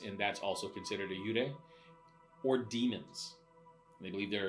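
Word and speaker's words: 幽霊: They call them yurei, which Yurei? means faint. Yurei, Okay. which is spelled Y with a U and a little line over it, R-E-I.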